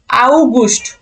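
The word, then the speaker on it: August: কে বলা হয় আগস্ট আউ গুষ্ট এই যে ইউ আও গুস্ট এভাবে উচ্চারণ হবে আউ এই যে এভাবে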